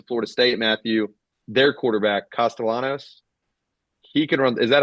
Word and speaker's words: Castellanos: Their quarterback, Castellanos, he can run.